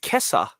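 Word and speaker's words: 今朝: So this morning is still pronounced kesa. Yeah. Maybe it's from kefu, right?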